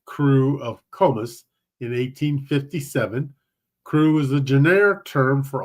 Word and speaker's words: Krewe: So I think despite the fact that it's spelled Krewe, it's probably a lot like we recognize crew as CREW.